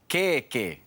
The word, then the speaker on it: kēkē: Trust me, it pays to know the correct length because it affects not only the pronunciation, but also the meaning. Take a look at this example. keke Keke means cake. kēkē But if you see it keke, you'd be talking about an armpit.